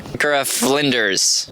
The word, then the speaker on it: Ikara-Flinders: Ikara-Flinders.